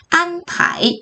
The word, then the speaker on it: 安排: 그래서 발음이 안파이 이렇게 읽힙니다.